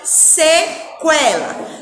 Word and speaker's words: sequela: Vamos repetir, sequela. Na palavra sequela, nós escutamos sim o som do U quando pronunciamos a sílaba que.